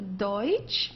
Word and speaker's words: Deutsch: Deutsch means German. Okay, don't confuse it with Dutch. This is not Dutch, it's a Deutsch.